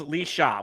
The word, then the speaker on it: Laoise: Yes, but it says, but Laoise equals Lee Shaw, which how the hell does Laoise pronounce Lee Shaw?